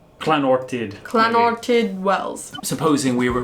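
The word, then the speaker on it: Llanwrtyd Wells: Alright, so I remember the double L makes a... Clanortid. Clanortid Wells.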